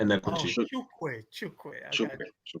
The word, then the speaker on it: Enekwechi: um Chawabuk Chawabuk Chawebuka Eniwiche? Yeah, not quite. It's Yeah. Chukwuebuka Oh, Enekwechi.